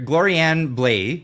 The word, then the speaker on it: Gloriane Blais: but also with us here um introductions here Glorianne bla am I pronouncing that correctly yes it's perfect yeah so